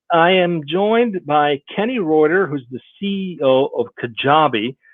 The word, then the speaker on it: Rueter: Well, first of all, the last name is pronounced Rueter, and Rueter. There we go. It confuses everybody.